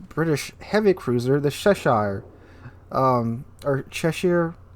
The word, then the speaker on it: Cheshire: Moving on to number 3, we have the tier 8 British heavy cruiser, the Cheshire, or Cheshire. I was told to say it like the Cheshire cat.